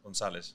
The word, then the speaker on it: Gonzalez: Gonzalez. Gonzalez. Yeah. I got it. Cool. Yeah, that's how you say it in Spanish.